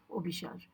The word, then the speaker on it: Abhisara: setting where I am in the setting of obish The trist yeah it is spelled a b h a s a r